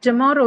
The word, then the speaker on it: tomorrow: Tomorrow will not carry it on the first syllable. It actually has on the second one. Tomorrow. Reason being, tomorrow, the second syllable is actually not o. It's what? It's a o sound. It does carry a diphthong in it. That's why.